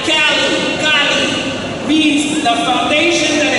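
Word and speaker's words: calli: Cali Cali, c a l l i, Cali.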